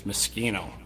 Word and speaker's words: Mosschino: U the corre correct pronunciation is Mossino.